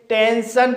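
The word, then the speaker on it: tension: जैसे टेंशन इस वर्ड में एन के बाद एस आई ओ एन आया है। इसलिए एस आई ओ एन का उच्चारण सन होगा। इसलिए इसे टेंशन पढ़ा जाएगा।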